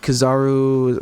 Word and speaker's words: Kizaru: We have Kizaru.